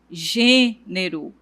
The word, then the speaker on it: gênero: O som desse acento ele é fechado. Então, eu falo pêssego, gênero. Então, observe que eu fecho um pouco a boca para poder pronunciar essa sílaba. Então, todas as palavras que tiverem esse acento, o som será mais fechado.